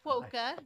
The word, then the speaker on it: Kwoka: It's a Polish name, so it's Kwoka, rhymes with polka, just in case that helps.